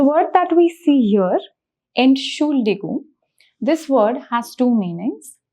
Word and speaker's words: Entschuldigung: Also, the word is pretty long, so let's break down the pronunciation of it. So we have Ent, that is the first syllable. We have Schul, which is the second syllable. And then we have Digung, which is the third syllable. So if you have a problem with pronunciation, you can just break down the syllables Ent, Schul, Digung, and then just repeat them faster, like Entschuldigung.